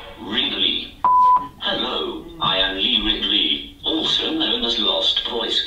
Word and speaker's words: Ridley: out from the crowd hello i am lee riley can i make it say my name properly relay really hello i am lee ridley also known as lost voice guy and i